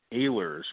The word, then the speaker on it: Ehlers: today hey good afternoon my last name is Ahlers pronounced with a long a sound but just call me